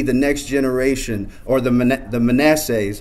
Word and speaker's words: Manasseh: We just want to come alongside you and help you produce these leaders who will be the next generation, or the Manassehs.